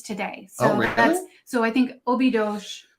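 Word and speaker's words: Óbidos: so so I think Obi Dosh is a or it's spelled ob-i-d-o-s and I think it's a sound at the end so it's okay you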